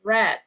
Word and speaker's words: read: Ok with have so the is pronounce as red oke different from jacky